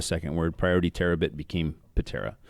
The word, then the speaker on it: Ptera: word priority terabit became patera we still hear you know the silent p terra or or patera p tara but but it's just it